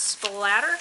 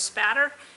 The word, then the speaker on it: spatter: thing with the pronunciation it is not splatter there's no L in there it is called blood spatter and it is part